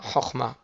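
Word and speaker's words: חָכְמָה: et le à l'accord donc on dirait un format il ya un principe qui est important aussi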